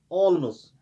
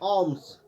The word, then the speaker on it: alms: अगर हम पढ़ेंगे ऑल्मस, दैट इज रॉन्ग। ALMS, इसमें एल साइलेंट रहता है, तो हमें पढ़ना है ऑम्स।